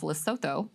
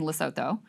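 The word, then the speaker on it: Lesotho: Oh, you don't say the the th I'm sorry I didn't I didn't take the loto.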